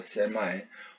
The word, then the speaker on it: semi: 보니까 발음에서 보니까 세미 하는 경우도 있지만 세마이 하는 경우도 많더라고요. 세마이. 혹시나 어떤 곳에서 세마이라고 했을 때 여러분이 당황하지는 마세요. 세미나 세마이나 같은 말입니다.